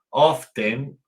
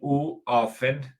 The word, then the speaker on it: often: Often o también often. Esa T puede o no puede o no sonar. Eso depende de la pronunciación que ustedes utilicen. Yo cuando vivía en Estados Unidos sonaba often. Ahora que vivo aquí no suena, digo often, porque la T aquí en el inglés del Reino Unido no suena la T.